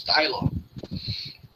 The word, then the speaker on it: Taylor: O Taylor, bem inglês, né? Vou fazer a pronúncia correta. Aqui Taylor é inglês. Taylor.